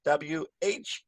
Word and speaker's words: whether: When you want to say, I wonder whether, you have to use W-H-E-T-H-E-R. Pronunciation is almost the same. This one, W-H, has a little more breath, whether.